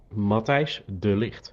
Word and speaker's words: Matthijs de Ligt: my Dutch mate to give us the correct pronunciation of Matthias de Ligt. So here you go. De Ligt. Matthijs de Ligt.